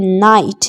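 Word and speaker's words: knight: यानी jannaut यानी गांठ के एन आई जी ह टी नाइट नाइट यानी योद्धा यहां पर आप देख सकते हैं की साइलेंट है नाइफ नाइफ नहीं पढ़ते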